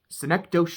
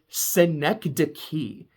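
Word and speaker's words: Synecdoche: say the film that I watched last week synecdosh New York that is not how you pronounce it and I sound probably sound like a cynic douche every time I said it it is synecd key is how you pronounce the word because uh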